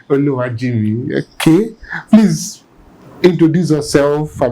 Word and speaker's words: Oluwajinmi: Oluwajimi did I get that name right yes Oluwajimi Oluwajimi okay please introduce yourself I mean let's know